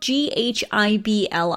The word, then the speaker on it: Ghibli: name Ghibli itself so this is spelled GHI bli some say Ghibli I personally say Ghibli and this is actually